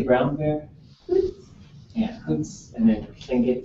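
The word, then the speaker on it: xóots: O and how do you say brown bear Hoots yeah Hoots and then get is Coots uh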